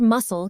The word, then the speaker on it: muscle: as the word muscle can be tricky for beginners. Yes, let's break it down. Muscle. Good. Remember, the C is silent in this word.